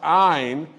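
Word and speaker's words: Ayne: And today I am announcing that doctor, and it's pronounced Ayn, spelled A-Y-N-E, Amjad, is taking our position.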